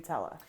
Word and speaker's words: Nutella: Just going back into my memory banks, I think I've always said Nutella, Yeah, that sounds right. And I say Nutella. Nutella. which, Oh, true to okay, form, that when it makes comes sense. to American English, is a bit closer to the Italian, So they say it like Nutella. probably, Not Nutella.